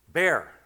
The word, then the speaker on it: Baer: It's only one syllable. Baer.